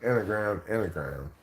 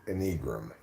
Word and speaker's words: Enneagram: But I've obviously finally given in and pronounced Enneagram, rather than how I used to pronounce it, Enneagram. Well, I read the word before I heard anybody say it, so I read it as it's spelled, Enneagram. But I just learned that's not how it's pronounced.